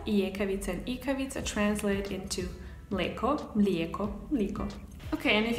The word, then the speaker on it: mleko: And in Serbian, because it's usually ekavica, you would say mleko.